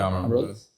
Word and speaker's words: Amarol: Amarol. Yeah, Amarol.